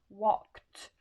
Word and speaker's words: walked: on vous dit que si c'est K, le ED va se prononcer en T. D'accord? Ça donnera donc walked avec le son T. Pourquoi? Parce que l'infinitif se termine en K.